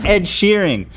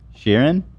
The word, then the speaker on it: Sheeran: What is his name? Sheeran? Shearing? How do you say it, you guys? Sheeran, yeah. Sheeran? Yeah, Sheeran? Shearing. It's not really that funny. Sheeran. There's an A. So, Sheeran?